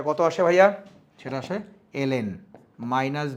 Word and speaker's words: ln: দেখতে পাচ্ছি সেটা হচ্ছে লনের মধ্যে দুইটা ভ্যালু বসাবো আমরা লন উচ্চারণ করি কিন্তু আসলে সঠিক উচ্চারণ হচ্ছে এল এন তাহলে এর ভিতরে প্রথমে